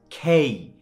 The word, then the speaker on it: K: বলেন তাহলে আপনি অটোমেটিক কি বলবেন কিং কিংডম কিচেন কাইট খেয়াল করছেন সো আমরা লেটারের ভুল উচ্চারণের কারণে কি আমাদের শব্দেরও ভুল উচ্চারণ হয়ে যাচ্ছে সো ইটস নট কে it's always খেই খেই খেই খেই ওকে এর পরের